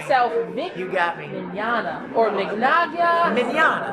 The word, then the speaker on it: Mignogna: Mignogna. I've been saying it well, right. it's Italian. And I know it's a lot harder. It looks daunting. Yeah. But it's pronounced pretty much like tomorrow in Spanish.